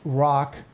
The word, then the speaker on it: Roch: for its ghost stories this is the saint Rock chapel and Cemetery now it's spelled Roch but it's French so it's pronounced